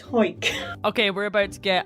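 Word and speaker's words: Hawick: Now, some people pronounce it Howick, but a quick Google has taught me that people from Hoyk tend to call it Hoyk.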